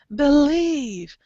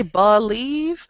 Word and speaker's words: believe: thir ah you know it's not an e it's not awah it's a short i e e believe B believe yeah some places like a dictionary they might say believe but it sounds really weird to say believe believe I believe it sounds really weird so a short I is actually what we're doing B believe believe nice